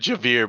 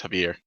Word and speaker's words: Javier: i'm doing right now isn't working i said javier but it is pronounced heavier so yeah you're in the middle of uh